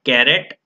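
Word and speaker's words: caret: right now this symbol this specific symbol is pronounced as a carrot or hat so we can say that is as a carrot or a hat okay so any vector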